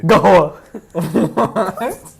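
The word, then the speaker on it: قهوة: Do you know what Arabs say? Wait. Gahwa. What is it? Gahwa. Or Gahwa. It depends where you're from, but like Gahwal?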